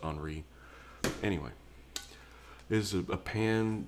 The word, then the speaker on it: Henry: This is Emile Henry, I'm guessing, because it's French, and Henry is pronounced Henri.